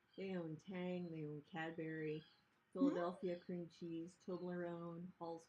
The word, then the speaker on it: Cadbury: pronounced Cadbury Cadbury Cadbury sounds like strawberry strawberry um Turtle chips